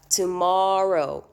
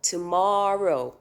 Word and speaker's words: tomorrow: pronounce pronounce it as tomorrow tomorrow it's still a long vowel so in this case my double r did not shorten my vowel right okay uh okay